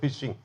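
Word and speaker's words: phishing: ஃபிஷிங் அப்படின்னு சொன்னாரு அதுக்கு pitch I எஸ் எச் ஐ என் ஜி ஃபிஷிங் நம்ம நார்மலா ஃபிஷிங் ரெண்டு பேருத்துக்கும் உச்சரிப்பு ஒண்ணுதான் எழுத்து மட்டும்தான் மாறும் எதுக்கு அதான் தூண்டில் போடுறது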